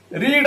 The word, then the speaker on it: read: the novel was being रीड रो 3 number form हमें कोन करबा रेड spelling same किंतु तारो ए जो कोन ना हम स्पेलिंग दा सेम किंतु प्रोनाउंसिएशन दा डिफरेंट रीड रेड तो the novel was